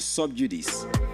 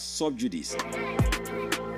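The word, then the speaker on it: sub judice: are using it as subjudice. It's actually subjudice. That is the proper pronunciation of the word. Subjudice. Subjudice is not subjudice. The CE is pronounced like C, like when you want to see.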